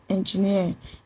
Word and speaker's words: engineer: For example, engineer. Engineer is stressed on the last syllable.